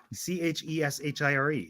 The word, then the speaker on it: Cheshire: I spell that yeah c-h-e-s-h-i-r-e it's like Cheshire it's like Chaser yeah like sure but not next okay Fairy